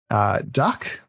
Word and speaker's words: dak: Duck, it's spelled D-A-K.